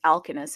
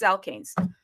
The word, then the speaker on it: Alkanes: I mean, I've been pronouncing this thing as alkenus and it's alkanes. Okay, it's alkanes.